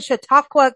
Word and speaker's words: Chautauqua: So you went to Chautauqua County. Did I pronounce?